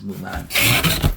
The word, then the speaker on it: Moolan: Hopefully I didn't butcher the name. Here we go. Yeah, it is Moolan.